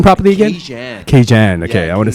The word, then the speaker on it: Kajan: Yeah, I actually dropped it because Raging sounds like Cajun, which isn't actually my name. My name is actually pronounced Kajan.